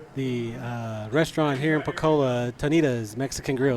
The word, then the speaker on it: Tonita's: We are at the restaurant here in Pocola, Tonita's Mexican Grill. Is that how you say it? You said it right this time.